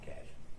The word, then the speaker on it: cache: Cash.